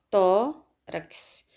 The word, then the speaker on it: tórax: Na palavra tórax, nós temos tórax. Sílaba mais forte, tórax.